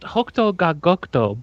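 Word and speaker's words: 北斗が如く: It's pronounced Hokuto ga Gokuto, but that's okay.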